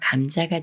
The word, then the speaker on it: 감자: 다음에 자라는 말이 와서 감자가 되는데요 미음 받침이 지을 만나지만 쌍 지우이 아닌 지을 소리 그대로 즈로 읽어요 감자 감자 예문 읽어